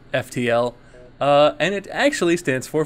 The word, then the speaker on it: FTL: My Skirm here, and welcome to Let's Play Fiddle. I guess it's actually pronounced FTL, and it actually stands for Faster Than Light.